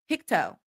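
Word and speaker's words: Pictou: Pik two is pronounced picto. Picto.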